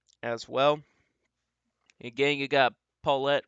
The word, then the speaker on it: Paulette: We also got Paulette, which in the last video I did not pronounce that correctly, so that's Paulette.